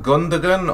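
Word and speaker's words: Gündoğan: today we have ilkay gundagon or gundam one i always pronounce that i've always used to pronounce his gondola but apparently the g isn't silent so yeah um celebrating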